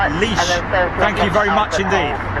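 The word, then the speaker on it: Laois: Arslan Zia Zay Ahmed Kundi is saying that it's pronounced leash.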